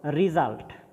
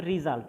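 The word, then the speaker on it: result: এরপরে রিজাল্ট, উচ্চারণটা হবে রিজাল্ট নট রেজাল্ট।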